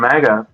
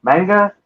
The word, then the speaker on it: manga: Manga? You're saying manga. Yeah, I think you can say it either way, but um I guess in Japan they manga.